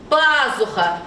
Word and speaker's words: пазуха: Молодец, на первый слог падает ударение.